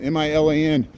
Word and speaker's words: Milan: We say Versailles, and there's another city in Indiana called Milan, M-I-L-A-N, and the people in Indiana call it Milan.